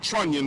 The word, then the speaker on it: trunnion: And that's known as, it's a trunnion bridge, is spelled trunnion like onion, okay?